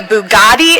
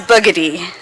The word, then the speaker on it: Bugatti: You taught me what a Bugatti is and that it is not pronounced boogy.